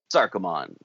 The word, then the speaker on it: Sarkomand: about a Lovecraftian place, Sarkomand. So I don't know if you hide the D like I do, but I don't know. I kind of pronounce it like you would like Sarumand.